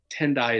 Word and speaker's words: Tendai: tendai as a um tendai is the Japanese pronunciation of the term Tien Taiwan which comes